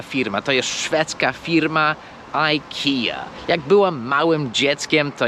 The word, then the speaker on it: IKEA: sklep to jeszcze raz ta firma po angielsku się wymawia i kija Ikea druga firma oczywiście jest